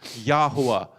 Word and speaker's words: Yahuwah: difference and the distinction with the pronunciation, Yahuwah. Yahuwah, the Yod, Hey, Wav, Hey. That's what we were spending that time really, really looking into the distinction of the pronunciation of that Wah not being a Vav.